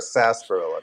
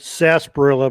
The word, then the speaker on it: sarsaparilla: Is it sarsaparilla or a sarsaparilla, Tom? I've always heard it said sarsaparilla, but it's spelled sarsaparilla. Oh, okay. There's an R in there, so.